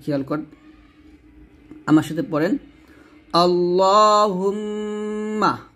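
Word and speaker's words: اللهم: আল্লাহুম্মা আল্লাহ মোটা হবে।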